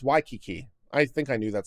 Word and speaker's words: Waikiki: It's pronounced Waikiki.